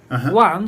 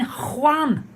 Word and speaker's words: Juan: She said, Juan, do you mean one? No, Juan. She said, do you mean one? No, I don't understand. Then she said, oh, you mean Juan. Juan.